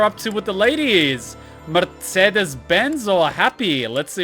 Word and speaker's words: Mercedes: Mercedes this is delicious it's Mercedes each e is pronounced differently I know right mind-blowing